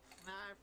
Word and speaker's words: Fnarf: Fnarf rhymes with Barf.